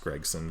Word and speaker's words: Gragson: I think it's actually pronounced Gregson, but it's spelled Gragson, so I tend to call him that.